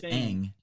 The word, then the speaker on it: Aang: They say his name. It's Aang.